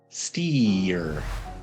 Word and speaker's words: steer: a steering wheel so before the r we have a long e sound steer it sounds funny when